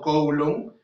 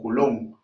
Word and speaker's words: coulomb: preuniversitario lo han llamado coulomb por el hecho de leerlo de manera español, coulomb, o también para que no suene feo, porque en realidad su pronunciación es coulomb, ¿no? Pero suena medio feíto, pues, ¿no?